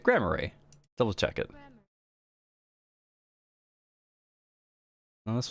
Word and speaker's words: Grammarly: How to pronounce... Grammar... Yes. Grammary. Let's see. Hold on. Grammarly. Yeah, I'm saying it right. Grammarly.